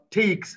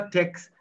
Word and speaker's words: takes: Takes, c'est pas takes, c'est takes.